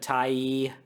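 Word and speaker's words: Tyee: damn uh plus these often also have a tax deductible much like like any other charity finally you can support Independent Media such as Wallace and Tai yes I had to look up the pronunciation of Tai I yes I thought it was pronounced T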